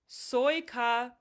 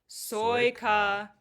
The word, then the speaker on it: sojka: Soya petit. Soya petita. So the J's make a Y sound and the C is a T. Petit. Okay, let's say that whole line again. I'll start. Zapia soya petita with me.